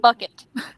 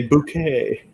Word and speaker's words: Bucket: time and she's like it's not pronounced that way i don't remember what like her name is called bucket and i say bouquet yes okay you know